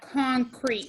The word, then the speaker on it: concrete: sound e consonant e concrete remember both of these words have sneaky e okay now let's look at concrete we haven't learned this